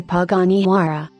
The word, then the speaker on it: Huayra: Panara 2012 the Panara Italian pronunciation is a mid-engine sports car produced by